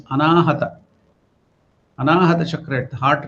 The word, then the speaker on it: Anahata: So don't pronounce it as Anahuta. It will, Anahuta means danger, accidents or danger. So it is Anahata.